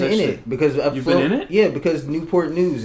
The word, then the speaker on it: Newport News: How do you say, it's called Newport News, like Channel Yeah.